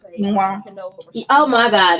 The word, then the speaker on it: quinoa: That's like when people try to say quinoa. Oh my God, it's quinoa. I don't even know the word. I don't even want to know. Quinoa. It's pronounced it's actually quinoa, but people pronounce it quinoa.